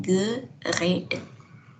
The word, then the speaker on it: geredet: Bacanya akan jadi geret gini. Ya, supaya dibacanya lebih mudah, kita sisipkan e di sini ya. Sehingga akan menjadi geredet.